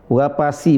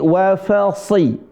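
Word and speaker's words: وفصيلته: Perhatikan di sini huruf sh ya. Wa fasi si wa fasilatihi bukan wafasi wapasi bukan tapi wafasi si sh si s si ikutin si si sh si si ah si wafasi shinya tebal nah sinya tebal dia seolah-olah dia mau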